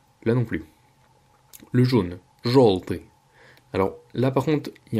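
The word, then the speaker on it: жёлтый: On a la lettre yo, vous voyez que ça s'écrit желтый. Sauf qu'en fait, après un G, après la lettre G, le yo se prononce O. Comme si c'était un O en fait. C'est pour ça qu'on dit желтый et pas желтый.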